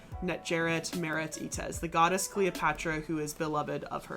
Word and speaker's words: Cleopatra: Kilu Padra is literally how you say her name. But the way you say Cleopatra, that is Greek.